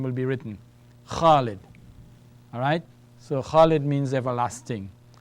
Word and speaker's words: Khalid: That's kha with an alif. So that gives me kha. Lam kasra is li. And then we have dal. Alright? Let's say we don't put anything for the dal. We put a sukoon. So if you have nothing on the dal, we just take the sound of the letter. It's a d. So we have Khalid.